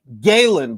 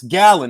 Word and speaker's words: Gallen: Lucas Browne was stopped, I believe it was 2 fights ago, by crossover rugby star Paul Gallen, pronounced in America Galen, but if you're in Australia, it's Gallen.